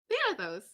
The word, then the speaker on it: Thanatos: His name is Thanatos.